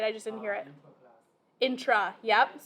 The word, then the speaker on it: intra: Intra. Yep. So inter, E-R at the top, R-A at the bottom, intra.